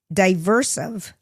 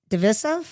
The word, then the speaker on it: divisive: different articles about different Oscar um the most diversive. Is that am I pronouncing that word? Divers. Diverse. Diversive. Diversive. D I V there's I s I ve divisive divers divisive is that how you